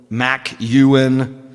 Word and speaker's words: McKeown: And so some people spell it McKeown, McKeown. It's kind of like Ewan McGregor, only there's a Mick in front of it, right?